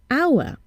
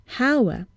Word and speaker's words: hour: need to listen at how the word is pronounced for example our we see an age but we hear a vowel south at the beginning our and not Hauer so what do we do in this case